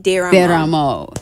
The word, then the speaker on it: Desramo: Desramo. Very close. So the S is silent. Desramo.